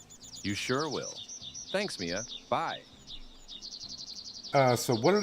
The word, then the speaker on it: Maya: Talk to Maya. Well, I'm going to get the rest of this done if I can. I think I said Maya. It's actually pronounced Mia, I suppose, here.